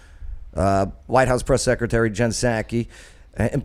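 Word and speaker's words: Psaki: house press secretary jen sackey and plus she has a silent p in in her last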